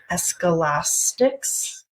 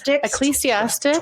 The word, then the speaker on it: Ecclesiastes: Oh no, how do you pronounce this word? Escalastics? Oh my God, it's a biblical. Yeah. Ecclesiastes 12, 1 through 8. Then she hung up. So Ecclesiastes, I'm sorry, I'm pronouncing it.